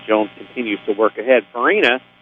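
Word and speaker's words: Fiorini: Farina is spelled F-I-O-R-I-N-I. So if you can buy an I in this one, you got it made.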